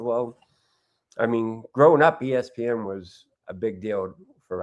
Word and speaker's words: ESPN: Did you intend for it to be pronounced ESPN or Espen? Or he did originally? ESPN. I Yeah. But when you start looking at the pronunciation and stuff, like if you looked it